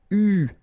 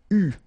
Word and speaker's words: eu: It is pronounced U, okay? U, that's the way you should pronounce it.